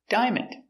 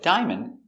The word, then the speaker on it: diamond: next word is diamond diamond diamond is countable this is a diamond this is a big diamond so remember with diamond we don't pronounce the a it's not Dia it's